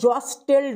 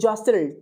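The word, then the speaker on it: jostled: তারপরে কি আছে, দে জসেল্ড, দেখো ওটা জস্টেল্ড নয় কিন্তু জসেল্ড, টিটা সাইলেন্ট থাকবে।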